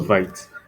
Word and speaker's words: Vite: So what's vite? So vite is pronounced as vit.